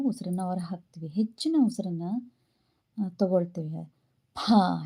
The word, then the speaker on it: ಭ: ಹೊರಹಾಕ್ತಿವಿ ಹೆಚ್ಚಿನ ಉಸಿರನ್ನ ತಗೊಳ್ತೀವಿ ಭಾ ಹೇಳುವಾಗ ಬಾ ಕಡಿಮೆ ಉಸಿರು ಭಾ ಹೆಚ್ಚಿನ ಉಸಿರನ್ನ ತಗೋತೀವಿ ಮ ವನ್ನ ನಾವು ಕಡಿಮೆ ಉಸಿರಿನೊಂದಿಗೆ